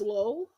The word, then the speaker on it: Lol: like his name is his name is LOL but it's pronounced low that's fun that's great low Crawley LOL where is